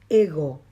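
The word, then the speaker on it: εγώ: yo yo en griego es ego ego no ego ego con acento en la omega ya habíamos dicho en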